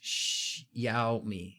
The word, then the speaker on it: Xiaomi: see him huh hey saachi's Xiaomi pronounced che out me yeah okay so in